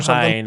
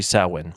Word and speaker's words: Samhain: So, on October 31st, they would celebrate what's called the Samhain. Now, it's not spelled that way, but that's how it's pronounced. It's spelled like sanguine, isn't it? It's Samhain or something. Samhain is how it would